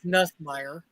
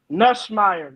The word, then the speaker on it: Nussmeier: Say his name right. It's Nussmeier. Nussmeier.